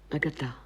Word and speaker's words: Agatha: vous le faites encore, avec cette insistance sur la dernière syllabe. Vous disiez Agatha. Agatha.